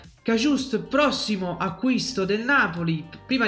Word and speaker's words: Cajuste: e studiare gli ex cajust dovrebbe essere così il la pronuncia cajust prossimo acquisto del Napoli